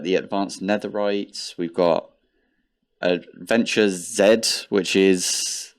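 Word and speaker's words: AdventureZ: We've got Adventure Z, which is, I think it's supposed to be pronounced Adventures with a Z, but I'm British, so I say Z.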